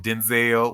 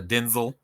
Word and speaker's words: Denzel: Like, because they were just talking about Denzel, where his name is pronounced Denzel instead of Denzel, but And too bad black people are he going to will call him always.